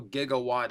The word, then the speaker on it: Gigawatt: I'm pronouncing it how they did in Back to the Future because that's correct for this situation. I know Gigawatt is a more correct pronunciation.